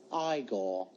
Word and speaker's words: Igor: no it's pronounced Frankenstein you must be eigor now it's pronounced igore hello would you like